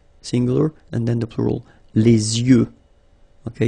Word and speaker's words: yeux: Okay, so l'œil, singular, and then the plural, les yeux. Okay, you make this liaison between the two. Les yeux. Okay, final X not pronounced.